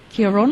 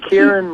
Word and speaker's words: Ciaran: go now did I pronounce your name correctly Kon Kieran Kieran yeah K Kieran whatever way you want to call it I me K's cool